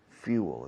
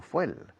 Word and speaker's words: fuel: But when a plane is taking off, it has a lot of fuel, combustible, fuel, escrito fuel. Se pronuncia few, como pocos, fuel, fuel, fuel.